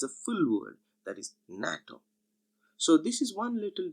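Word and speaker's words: NATO: pronounced separately as na tu but it is pronounced as a full world that is natto so this is one little difference between an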